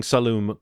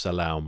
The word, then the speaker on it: Saloum: I think I'm saying Saloum correctly. I don't think it's Salaoum or anything like that. But, Saloum.